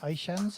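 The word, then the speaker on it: Aishan: name is sadi batt erden and i represent ishan's emporium i am here because your other options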